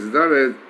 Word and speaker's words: Daled: benefactor or a giver, and the letter Daled pronounces as Daled, so it contains the letter Dal, which is needy person.